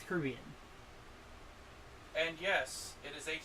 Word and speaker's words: Caribbean: And no, I'm not going to pronounce it Caribbean, like American. It's Caribbean.